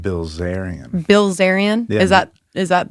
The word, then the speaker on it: Bilzerian: Bilzerian. Bilzerian. Is that Is that the real correct way? Oh, yeah. He was my idol. I thought it was Bzerian. No, I mean Yeah. No. Bilzerian.